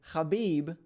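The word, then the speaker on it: Khabib: the highlight gaichi versus habib the eagle norma khamedov and yes that is the proper pronunciation of both his first and last name so super excited to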